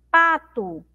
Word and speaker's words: pato: Pato. Pato. Então eu demoro mais um pouquinho falando a sílaba pá, tá? É a sílaba mais forte da palavra pato. A sílaba aqui, ó, que tem o som de U, que é formada pelo T e O, ela tem o som de U, ela é uma sílaba mais fraca.